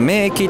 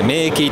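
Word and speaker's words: 名駅: 名古屋駅は名駅と呼ばれるんです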